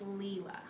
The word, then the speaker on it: Leela: Julie says thank you, and I mispronounced her daughter's name. It's Leela. Leela.